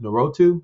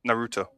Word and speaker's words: Naruto: Is it Narotu? Is that how you pronounce it? Naruto. Naruto.